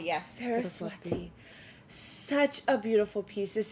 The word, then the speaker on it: Saraswati: item oh this is insane okay clear court sarwati is that how you pronounce it Saraswati yes Saraswati such a beautiful piece this is insane okay